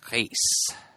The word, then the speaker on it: Reis: Well, it's Brazilian Portuguese, so the R often comes out sounding a little bit more like an H, so like Reis.